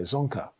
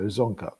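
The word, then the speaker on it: Dzongkha: yeah okay okay well so you don't pronounce the d is that correct yeah it's correct okay zonker okay well it's i guess that's the tricky bit so zonka okay and what uh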